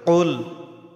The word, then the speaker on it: قل: قل কফ হলকের যে এটা একটু গলার ভেতর থেকে চাপ দিয়ে উচ্চারণ করতে হবে। কুল কুল আউযু বি কুল আউযু বি রব্বিন নাস।